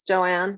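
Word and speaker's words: Johanne: have something you muted the H in my name is silent it's Joanne my parents are French Canadians how they do it there but um um the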